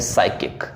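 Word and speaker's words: psychic: शब्द है वह है साइकिक अगर आप ऊपर से देखेंगे देखिए साइकिक इसमें साइकिक में याद रखिएगा की पी जो होते हैं वो क्या होते हैं साइलेंट होते हैं ये याद रखिएगा ठीक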